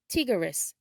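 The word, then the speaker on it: טיגריס: In Hebrew, tiger is pronounced tigris, tigris.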